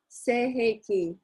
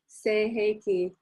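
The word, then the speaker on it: Sei He Ki: And the meaning of this, and the name of this symbol is Seiheki. That's how we pronounce it, Seiheki.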